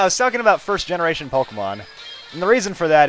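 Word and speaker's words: Pokémon: mean at least I at least know that it's Pokemon and not like Pooky man or something like that I don't know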